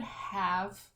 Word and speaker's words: have: you see the word have where it's one of those words that has the silent e at the end have kind of starting